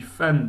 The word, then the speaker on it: fan: you'll notice we pronounce that N on the end of fan, yeah, much like it's in English, but you sort of exaggerate it a little bit.